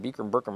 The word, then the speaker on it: Bikram: I've been mispronouncing that shit all the time. Burkham. I've been Bikram. pronouncing Burkham. He doesn't even care if you ask him. He's like, how do you say your name? Bikram.